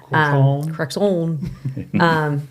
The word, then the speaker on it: Crexont: I got on Crexont. Is that how you say it? Mm-hmm. Crexont.